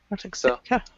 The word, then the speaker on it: Arctic: Arctic the Arctic Arctic yeah close work on that k sound Arc Arctic AR yeah Arctic Arctic yeah people are often lazy and simply say Arctic the Arctic Circle um Arctic Artic either one that you want to say would be fine uh 247 uh 247